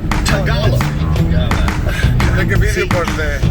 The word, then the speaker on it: Tagalog: I think you are choosing to say it wrong because it's funny. It's Tagalog. Tagalog.